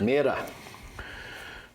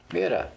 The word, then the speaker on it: Mirar: verb look to look miror miror that's pretty much how they pronounce it in French uh they're going to